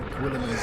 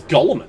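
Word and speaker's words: Guilliman: What in Gwilliman's name is that? Oh, was that how you pronounce that? I thought it was Gulliman.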